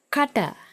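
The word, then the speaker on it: කට: That is kata, kata.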